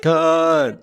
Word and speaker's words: Khan: I am They've been pronouncing it wrong this whole time. Everybody knows this is pronounced Khan.